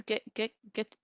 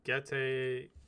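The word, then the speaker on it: Gege: Geke Akutami. How do you pronounce it? I think actually you're really close. I think it's like Gete.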